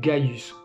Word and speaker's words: Caius: Et parfois, ce C pouvait être prononcé G, comme Caius se prononçait Gaius, ou Cneus se prononçait Gneus.